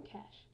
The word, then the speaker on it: cache: cache and your RAM cache. Now cache is spelled C-H-E, but it's really spelled cat, or it's really pronounced cache, which is really a common misconception with a lot of people.